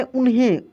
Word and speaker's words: उन्हें: यहाँ पे देखिए आधा न है तो इसको भी हम लोग तेजी में पढ़े, उन्हें, उन्हें, उन्हें नहीं, कैसे पढ़े, उन्हें।